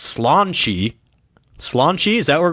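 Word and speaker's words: sláinte: Again, I said it was Santi, which is not even close. Now, how in God's green earth our friends in Ireland got that word to be pronounced slanche?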